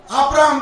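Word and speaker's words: Abraham: YAHWEH, ये जो दोनों यच है, इसमें से एक ना यच को निकालकर अब्राहम के अंदर डाले। ABRAHM, एक्चुअली इंग्लिश में HAM है, उनका प्रोनाउंसिएशन कैसा है? अब्राहम।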